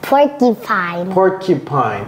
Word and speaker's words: porcupine: Mais ce qu'il veut dire, c'est que le U ici, et je vais l'effacer très rapidement, le U, il dit que c'est comme, ça se prononce comme un I, porcupine.